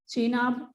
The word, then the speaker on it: Chenab: So once again observe the pronunciation of these 5 names: Jhelum, Chenab, Ravi, Beas and Satluj.